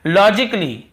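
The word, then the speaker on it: logically: और देखिए लॉजिकली, लॉजिकली, यहाँ पर भी ए को हम नहीं पढ़ रहे हैं।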